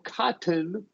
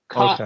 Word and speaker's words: cotton: So if it's T vowel N, we're going to say not button, we're going to say, or cotton, Okay. we're going to say button, cotton. Okay.